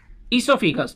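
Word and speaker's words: oesophagus: हैं दूसरा हमारा है सोफिस ठीक है इसमें हम ओ साइलेंट पढ़ते हैं तो ये हो गया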